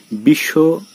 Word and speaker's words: বিশ্ব: একইভাবে বিশ্ব উচ্চারণ করতে গিয়ে এখানে বয়ের উচ্চারণ উজ্জ হয়ে সদিত্য উচ্চারিত হচ্ছে।